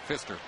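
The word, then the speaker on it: Pfister: Yes, the P is silent in Fister.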